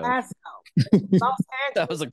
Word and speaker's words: Belasco: How you pronounce Belasco, it? Not Molesto. Belasco.